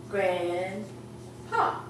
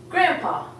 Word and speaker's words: grandpa: We also have grandpa. Except we don't even say the D when we say it. We say grandpa.